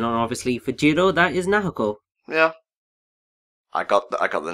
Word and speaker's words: Naoko: one person, and obviously for Jiro, that is Naoko. Yeah. I got the name wrong, didn't I? Yeah, you did. I think you called her Nato.